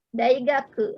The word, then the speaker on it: daigaku: Ya, jadi ini daigaku. Hai, ite kudasai. Minasang sama-sama. Daigaku. Daigaku. Daigaku. Daigaku. Bukan gake ya, bukan tapi ingat u terakhir diucapkan tidak monyong ya.